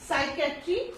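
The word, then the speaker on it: psychiatry: है ये कॉम्बिनेशन है, इसमें कोई भी वर्ड होगा तो क्या होगा, P साइलेंट रहेगा. So here we have some examples. So first of ऑल P S combination, इसमें क्या है, साइकेट्री, साइकेट्री क्या होता है, मनोविज्ञान होता है।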